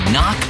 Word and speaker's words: knock: letter in kite and a silent k is also the first letter in knock over if you don't